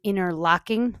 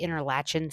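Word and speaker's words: Interlachen: So today we are in Interlocking, Florida. I want to say Interlatchin so bad because that's how it's spelled but that's not how it's apparently pronounced.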